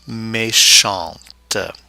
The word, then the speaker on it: méchante: Méchant, méchante. The E at the end of méchante, the feminine form, forces the pronunciation of that T, whereas it's silent in the masculine form.